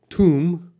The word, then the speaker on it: tomb: does this say well this is tomb tomb so the this o has an O sound tomb and then we have